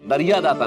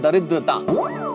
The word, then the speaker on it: दरिद्रता: अरे नहीं नहीं, ये दरिया दाता नहीं, इस शब्द का उच्चारण है दरिद्रता.